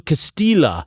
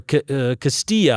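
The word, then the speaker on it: Castelli: And what's really interesting is Galileo wrote a letter to uh Benedetto Castila or Castillia. I'm He's Italian, not Spanish, so the double L I believe is pronounced.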